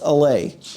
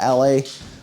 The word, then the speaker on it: Allez: It's a Specialized Allez, or Allez. It's spelt A-L-L-E-Z.